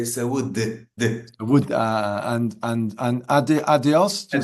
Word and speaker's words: saúde: So they say saúde, but in Portugal we say we are more like closed off. The words are more closed, so we say saúde.